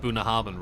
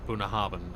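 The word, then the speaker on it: Bunnahabhain: know that for the longest time i got booner harban wrong i thought it was uh boone harbin i had to look up i actually found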